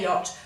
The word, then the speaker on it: yacht: on its own now the ch would be a guttural sound that you'd make sounds like someone's going to spit or vomit on you it's like we can't make that sound easy so when we say yacht we leave out that sound but when we write the word we must still put in those two letters that the dutch